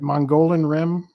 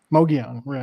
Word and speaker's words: Mogollon Rim: You did a video where you were camping on, I want to see if I pronounce this right, Mongolian Rim? Mogollon Rim.